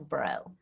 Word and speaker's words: Braud: my name pronounced so it's like the b r UD D yes translates as bro okay so it's French